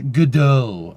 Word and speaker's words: Godot: Say it like it's French. Godot.